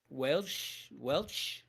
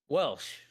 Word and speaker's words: Welsh: Welch. Am I supposed to pronounce it with a CH or a SH? SH. Welsh.